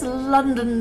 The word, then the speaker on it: London: It's got 2 ONs in it. That is pronounced on. Both are pronounced differently to on, and then on top of it, they both sound different in the same word.